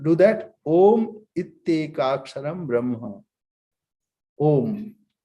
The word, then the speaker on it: Om: Om. This is a very short syllable. A, U, Ma, and nasal sound.